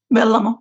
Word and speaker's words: Vellamo: So you consider um Velmo, am I pronouncing that correctly? Velmo. Yes.